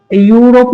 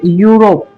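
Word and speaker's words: Europe: जब ई और यू साथ में हो तो उसमें से सिर्फ हम यू को पढ़ेंगे, ई को साइलेंट कर देंगे। जैसा कि यूरोप नहीं, ये क्या है? यूरोप।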